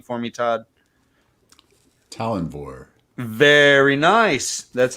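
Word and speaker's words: Tallanvor: Can you pronounce this name for me, Todd? Talenvore.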